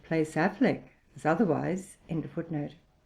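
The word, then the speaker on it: Auchinleck: 1504 the Barony or manner of our connect pronounced Affleck footner Mr Kroger says that he was informed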